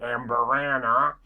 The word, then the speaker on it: Amburana: as they say there that's how we pronounce it in States in Kentucky Amber Anna um this is the